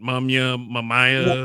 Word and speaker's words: Mumia: How do you pronounce it? Mumia.